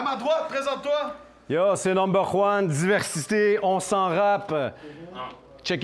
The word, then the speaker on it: NumberJuan: Yo, by the way, mon nom c'est Number One, puis tu devrais être facile pour toi de le prononcer, ça se prononce sans J.